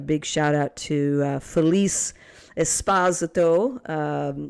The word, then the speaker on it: Esposito: A big shout out to Felice Esposito. Yes, she likes her last name pronounced like that.